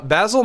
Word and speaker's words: Basil: did I miss uh basil might be dead and it's pronounced basil he might be dead